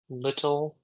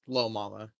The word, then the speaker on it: Lil Mama: That is going to turn on over to Spicy Little Mama. It's Lil Mama. Lil Mama? Not little.